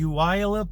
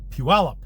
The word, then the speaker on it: Puyallup: from washington look at it and called the uiolip they have a lot of difficulty pronouncing it but it is actually pronounced puella named after the puyallup indian tribe i believe